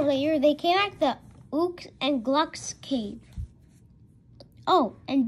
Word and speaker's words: Ook: Him's name is not Ook. It's Ook. Rhyme with Duke.